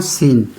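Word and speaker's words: scene: सीन। यानी हमें silent का मतलब है कि हमें सी को पढ़ना नहीं है।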